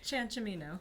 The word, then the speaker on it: Ciancimino: So please help me welcome my guest, Michele Ciancimino. Pretty good. I'll take it. How do you say it? Ciancimino. Ciancimino. Okay.